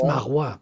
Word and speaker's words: Marois: How do How do you pronounce his last name? Is it Marwa or is it uh where is it written? M A R O I S. Isn't that That's Marwa. That sounds uh local here.